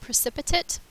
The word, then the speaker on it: precipitate: a little bit differently you say it precipitate and it means that